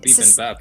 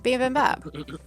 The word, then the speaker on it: bibimbap: But in that shop, a restaurant, You sound like beep boop. You say it like beep and bap, like this is a word that exists. What it the hell is. is beep It's and bap? Korean, bibimbap.